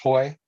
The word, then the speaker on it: Haughee: Haughee, if I'm pronouncing it correctly. Well, it's actually pronounced Hoy, but it doesn't look anything like that.